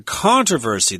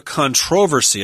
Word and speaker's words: controversy: case there was a controversy there or a controversy I guess you can pronounce it both ways Americans we say controversy with the accent on the first syllable and it was a